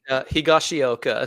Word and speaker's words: Higashioka: Higashioka.